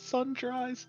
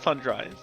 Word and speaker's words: sundries: oh yeah well then I've always pronounced it sun Dres I I'm I am